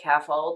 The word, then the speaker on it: CAFALD: my case, I use a mnemonic, CAFALD, pronounced CAFOLD, that patients remember, and that stands for, it's a mnemonic that stands for category, action, function, association, location, and description.